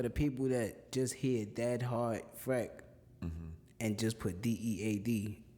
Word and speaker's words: DXSDHEART: all right so listen my artist name is spelled r d-x-s-d-h-e-a-r-t f r e c k which is dead heart fright and the reason